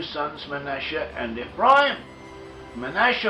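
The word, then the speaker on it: מנשה: Manasseh or Manasseh, in Hebrew, modern Hebrew, it is pronounced as Manasseh. In ancient Hebrew, the northern tribe is probably pronounced it as we do in the English-speaking world as Manasseh, whereas the southern tribes around Judah probably pronounced it as they do in modern Hebrew as Manasseh, a shin instead of a sin.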